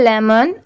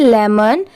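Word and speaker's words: lemon: यह है लेमन। एल ई एम ओ एन लेमन। यहां पर लेमोन नहीं इसे प्रोनाउंस करेंगे लेमन।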